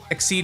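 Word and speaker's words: Xyz: was X ex God I hate that it's spelled XY exceed is too hard to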